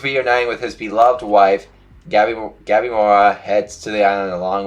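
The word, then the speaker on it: Gabimaru: Gabi Mora, I think that's his name. Gabi Mora, I think.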